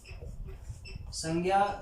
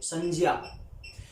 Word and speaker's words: संज्ञा: तो फिर इसका उच्चारण संज्ञा नहीं संज्ञा होना चाहिए। क्या होना चाहिए? संज्ञा।